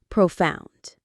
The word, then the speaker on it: profound: Profound. The stress is on that second part. Found. Profound.